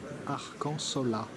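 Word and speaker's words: Arcanzola: la maison Arcand Zola Arcan sola de 15110 j'ai tendance à oublier que le Z a embrasse se prononce s donc non pas arc en Zola mais arc-en-ciel une odeur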